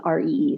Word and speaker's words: Rountree: And there's technically no D in Roundtree. It comes from Rowantree. It's an English name, but it is spelled with a U, Rountree.